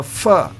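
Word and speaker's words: ף: And again, pe, the final pe is pronounced with the fa sound.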